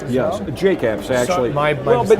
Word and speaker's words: Jake Apps: So I'm Media, and Jack Apps as well. Yes, Jake Apps, actually.